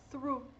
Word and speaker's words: through: Então, só você lembrar que o que tem THR, é o through. Through. Por quê? GH é mudo, final de palavra, e não é a exceção que tem som de F, que vocês já sabem também.